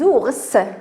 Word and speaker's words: ours: Des ours, on dit un ours, des ours, ici, on prononce le S, des ours, voilà, ici, donc le granit, on prononce le T, alors le granit, le granit.